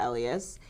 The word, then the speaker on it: Elious: in a sense and it rhymes with my last name so it's rebellious by Elias and one great messaging